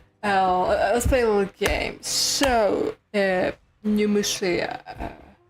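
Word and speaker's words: Pneumousia: So, Numusia. Or if you actually speak the language it originates from, Pneumosia. Because pneuma and usia.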